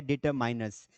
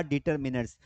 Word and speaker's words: determiners: में, उसका नाम है डिटरमाइनर्स। इसे डिटरमिनर्स भी पढ़ा जाता है, इसे कुछ लोग डिटरमाइनर्स भी पढ़ते हैं। इफ़ यू आस्क मी सर, इसका करेक्ट प्रोनाउंसिएशन क्या होगा, तो इसका करेक्ट प्रोनाउंसिएशन होगा डिटरमिनर्स।